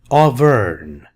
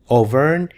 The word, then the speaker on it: Auvergne: Auvergne. G is silent, no G. Auvergne is a region in France.